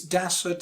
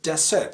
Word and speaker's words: desert: By the way, it's desert, stress falls on the first syllable, not desert.